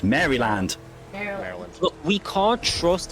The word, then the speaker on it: Maryland: You've got no business telling me how to pronounce anything in America. And it's Maryland. Maryland. It's Maryland.